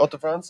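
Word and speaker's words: Hauts-de-France: beer from all the fronts okay and uh Auto France is am I saying it correctly absolutely for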